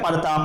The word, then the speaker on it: प्रताप: प्रताप को परताप उच्चारण करना कौन से प्रकार के अशुद्ध उच्चारण का भेद है? स्वरागम, स्वरालाप, आकार एकार भ्रम या फिर आगम। तो यहां पर देखिए आप प्रताप और परताप, इसमें जो री की री का लोप है यहां पर हो रहा है।